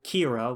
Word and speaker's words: Kira: And he gets a name, Kira, which is the Japanese pronunciation of the English word killer.